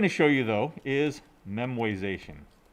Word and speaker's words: memoization: show you though is memoization that is not memorization it is spelled correctly here trust me yes it is a made up word all words are made up right uh so it it's not memorization but it's memoization right uh so remember